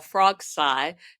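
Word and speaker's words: Frogsailles: I am on the south porch of my ranch that I call Frogsci, spelled like Versailles with frog, in Choctaw County, Oklahoma.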